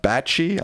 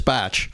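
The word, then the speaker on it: Bache: Handwriting expert Emma Bachie, I'm not sure if that's how you say her name. B A C H E. Yes. Says I think it's Batch. Batch says the signature is absolutely his despite Trump's denials.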